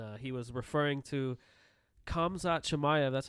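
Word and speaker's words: Khamzat Chimaev: dislikes him and uh he was referring to kamza chamaya that's how you say his name yes sir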